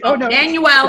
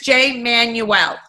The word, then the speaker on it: Jay Manuel: I want to say it correctly, not Manuel. Everybody, it's Jay Manuel.